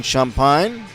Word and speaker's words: Champagne: thwarted by Ian champine champag spelled c h a m p a g NE e looks like champagne but it's a Louisiana uh pronunciation for those of you